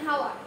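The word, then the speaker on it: hour: যেরকম এন ইউ আর, এন হাওয়ার, এখানে কিন্তু এইচ থাকা সত্ত্বেও এন বসেছে, এন হাওয়ার। এইচটা যখন হয় এর মতন উচ্চারণ হয় কিন্তু অ এর মতন উচ্চারণ হচ্ছে এখানে। তারপরে আরেকটা কি জানা যেতে পারে, এ।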